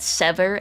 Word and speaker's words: Sever: they were looking for is called Sever. S E V E R like Sever a limb.